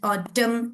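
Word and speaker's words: autumn: तो इसलिए column N is silent, dam एन is silent, ऑटम एन is silent. So usually letter n is silent at the end when it comes after m, ठीक।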